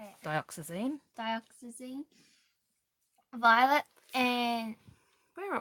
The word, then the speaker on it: Dioxazine: Doxyzine. I can't say it. Dioxazine.